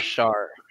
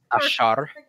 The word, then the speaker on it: Ashaar: Ashaar. Ashaar. Ashaar. Little Ashaar. Ashaar. You'll roll your R.